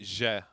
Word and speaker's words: Zie: So, my second name is ZIE, but it's a Cameroonian name. ZIE like Zangief? No, you pronounce it Je. You pronounce it Je. Nice try though.